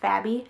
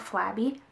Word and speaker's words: Fabby: and I actually I I got the name wrong it's called Fabby so I walk up to the lady and I'm like do you have the lipstick called flabby and she like looks